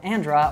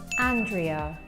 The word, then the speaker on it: Andrea: And our other fluency coach is often called Andra or Andrea, and let's see how she would actually say it. My name is pronounced as Andrea. Andrea.